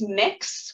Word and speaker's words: Mx: more formal, you can feel free to use mix, which is how the MX dot is pronounced.